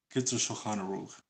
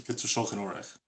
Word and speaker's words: Shulchan Aruch: So for Ashkenazim, according to the Kitzur Shulchan Aruch, or the Kitzur Shulchan Orech, But let's say it like that, because this is how good Ashkenazim say it. According to the Kitzer Shulchan Orech, the radish is the best.